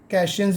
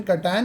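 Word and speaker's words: cation: बहुत सारे टीचर्स को कैशियंस भी कहते हैं, एनियन भी कहते हैं, लेकिन ये प्रॉपर प्रोनाउंसिएशन कटायन अनायन.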